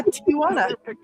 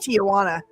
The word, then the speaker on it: Tijuana: There is no A. It's not Tana. Really? I did not know that. I see it spelled. Yeah. Tijuana. It's crazy how I would I've always heard it pronounced Tijana.